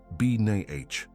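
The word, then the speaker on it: בינה: It is pronounced b n a h.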